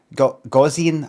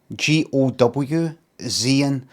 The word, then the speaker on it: Gaussian: something by sort of Carivore says GOW Zian. When you're doing these phonetic things, you need to do some things in caps to know what what syllable to stress on. Plus the GOW could be go or go.